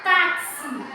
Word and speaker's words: táxi: Tenho aqui a palavra táxi. A sílaba tônica mais forte é o tá.